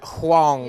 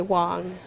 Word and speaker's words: Whang: Like Huang. Yeah. Well, actually, that's sort of, I think that's like proper, British English pronunciation, Really? which actually is the correct way to pronounce my name, but, it's easier to just say Wang.